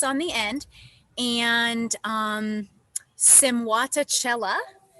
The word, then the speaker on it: Simwatachela: the end and um simat Cella is the pronunciation of my project and I am technically